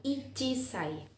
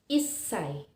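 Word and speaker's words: 一歳: perlu berhati-hati karena bunyinya bukan ichise salah tetapi isai atau memiliki bunyi special Kemudian untuk umur dua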